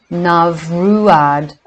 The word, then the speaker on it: Neamruaid: The word is pronounced Neamruaid, and it is evident that it was given its present form of Nimrod for a disguise.